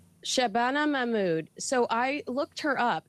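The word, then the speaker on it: Shabana Mahmood: Uh Shabbana Mammud. Shabana Mammud.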